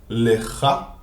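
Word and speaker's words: לְךָ: So if you look at lecha, you can see that there is a shva under the lamed, so that's why it's pronounced as le. As I said in modern Hebrew, lecha, and under the chaf sofit, the final chaf, we have the kamatz, which tells us to say cha, lecha.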